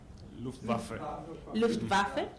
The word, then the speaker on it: Luftwaffe: cheering for the, I don't know how you pronounce this, Luftwaffe? Luftwaffe.